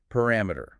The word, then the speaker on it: parameter: Let's start with a word we already mentioned, parameter. Where's the stress there? It's on that second syllable.